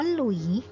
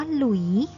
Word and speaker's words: หลุยส์: เรา ออก เสียง ว่า หลุยส์ Louis แล้ว ก็ สอเสือ เนี่ย ใส่ ทันตฆาต ก็ คือ ถ้า ส เสือ ทิ้ง ไม่ ออก เสียง ส เสือ ก็ เพราะ ฉะนั้น ภาษา